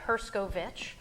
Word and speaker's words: Herscovitch: Herscovitch, spelled like it sounds.